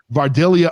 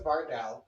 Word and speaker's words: Vardal: And I don't even know how to pronounce it properly, but Vardalia Onions. How did you come up with that name? Why don't you tell everybody about that? So my last name is Vardal.